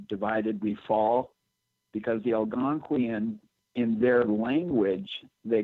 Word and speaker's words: Algonquian: Algonquian.